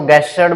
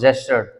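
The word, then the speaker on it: gestured: हाँ, गलती क्या होती है, इसको गेस्चर्ड बोल देंगे कुछ स्टूडेंट, ग का साउंड नहीं आएगा, ज का साउंड आएगा। So this is pronounce जेस्चर्ड।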